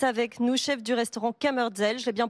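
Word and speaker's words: Kammerzell: Et le chef Hubert Lépine est avec nous, chef du restaurant Kammerdzell, je l'ai bien prononcé.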